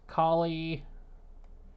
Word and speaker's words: Kali: Kali, and yes, that's how you say her name.